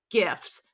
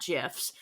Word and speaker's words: GIFs: sound, so it would be GIFs, not GIFs. And whoever's saying GIFs is wrong, because that stands for graphic, and it's graphic like a G sound for sense. graphic. So there's no reason to pronounce it. Like, I know sometimes G's can have a J sound, but not in that case.